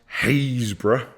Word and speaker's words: Happisburgh: chrome or I discovered Happisburgh which is pronounced haze bruh and that hundreds of